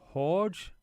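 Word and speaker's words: Jorge: It's pronounced like a h. So, horge as in like when you're saying Jose and that.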